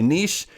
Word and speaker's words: niche: show you how to select a niche or a niche depending on how you want to pronounce it and find an excellent